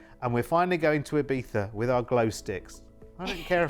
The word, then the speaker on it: Ibiza: Oh, Ibiza.